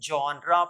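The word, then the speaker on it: genre: ई my dear learner इसे हम जनरा पढ़ते हैं या इसे हम पढ़ते हैं जर जनरा या जर इसका मतलब होता है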